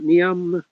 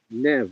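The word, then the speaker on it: Niamh: N I A M H is pronounced Nev on me.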